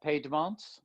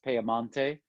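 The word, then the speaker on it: Piemonte: let's start with uh piedmont uh or you can also refer to it as pearmonte which is the way it's it's pronounced in italy it is at the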